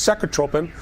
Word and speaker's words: Secretropin: tropin and the use it's called in us it's pronounced sec tropen I guess it's a tomato tomato type thing they don't want you